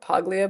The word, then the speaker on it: Paglia: I actually resonate with the work more of Camille Paglia. It's spelled Paglia, but she says Paglia.